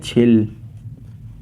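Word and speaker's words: 칠: सेन लिखा हुआ है इसे हम कहते हैं छिल इसे हम कहते को फल इसे हम कहते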